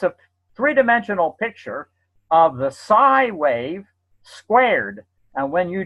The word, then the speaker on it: psi: And that symbol means, that symbol is pronounced psi.